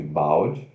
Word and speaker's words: bald: single, Aí nós temos aqui também, epa, bald, significa careca, ó, B-A-L-D, como se fosse bald, né? Mas se pronuncia B-O-L-D, bald, bald, bald, careca.